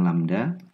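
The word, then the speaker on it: lambda: rambat kemudian lamda disini menyatakan panjang gelombang itu bacanya lamda kemudian F disitu adalah frekuensi efs ini menyatakan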